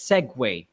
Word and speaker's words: segue: w-a-y according to pamela it's s-e-g-u-e the correct answer is this it's segway the spelling is weird but it's been like that okay so segway means